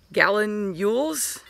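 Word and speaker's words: gallinule: he called him uh gallon yules not spelled like a gallon but sounded like a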